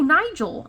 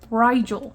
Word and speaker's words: Rigel: And they're like, oh, Nigel. I'm like, no. Rigel, like the star.